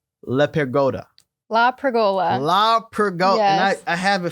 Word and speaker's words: LaPergola: LaPergola. Yes. And I have it phonetically here too.